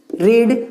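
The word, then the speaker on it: read: अब नॉट के बाद क्या है, वर्ब का थर्ड फॉर्म, वर्ब क्या है, रीड, रीड का वर्ब थर्ड क्या होता है, सेम होता है, इसको प्रोनाउंस करते हैं रेड।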